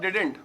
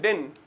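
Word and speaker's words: didn't: डिडंट। और आजकल तो बड़ा ही शॉर्ट करके मैं देख रहा हूँ डिडंट, और डिडंट का भी टी साइलेंट कर देते हैं, डिन।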